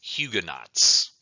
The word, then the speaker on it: Huguenots: term here this is huguenots actually it's French so it should be pronounced hugueno but I always struggle with this word it's huguenots to me these are